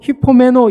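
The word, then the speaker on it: ὑπομένω: 오래 참는다라는 말은 여러분 헬라어로 히포메노 이렇게 발음을 하는데 이것은 무엇보험 밑에 거하다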